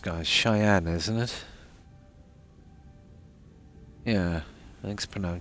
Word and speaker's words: Cheyenne: there's a jump not too far how's that pronounced guys cheyen isn't it yeah think pronoun Cheyenne okay yeah this is frear collective space hold